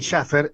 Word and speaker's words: Shaffer: negri y Melanie shaffer ella me va a decir si lo pronuncio bien que son médicas generalistas buen día cómo están Bueno muy buen día Buen día Melanie acá sí muy bien pronunciado el apellido gracias Ahí está perfecto